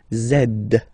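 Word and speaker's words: zède: zed zed okay so remember to pronounce this D at the end zed zed okay so let's see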